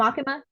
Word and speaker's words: Makima: YouTube about the Maki, or how do you pronounce her name? She's one with the Oh, red. Makima.